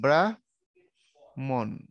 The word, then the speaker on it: ব্রাহ্মণ: উচ্চারণ কেমন হয় জানো উচ্চারণ কিন্তু এরকম ব্রা মন ব্রাহ্মণ এরকম হয় উচ্চারণটা ঠিক আছে অর্থাৎ তুমি চাইলেই এখানে তুমি দুইটা ম উচ্চারণ করতে পারো না মানে ব্রাহ্মণ বলতে পারো না ব্রাহ্মণ এরকম উচ্চারণটা তাইলে একটা হ একটা